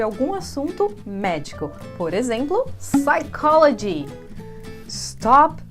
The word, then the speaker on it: psychology: Por exemplo, psychology. Stop saying psychology. Psychology. O P é mudo, a gente não pronuncia ele.